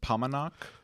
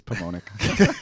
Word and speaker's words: Paumanok: we we pronounce it pomenak yep uh it rhymes with montauk we believe okay we're not actually yeah yeah so we're not i'm from jersey it's pomonic sorry pomenok i will try i